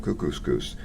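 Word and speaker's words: Kookooskoos: camp anyway welcome to Camp cuscus it rhymes with moose that's another good thing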